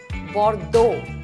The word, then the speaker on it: Bordeaux: not for dogs it's Bordeaux the x is silent it's not Rose it's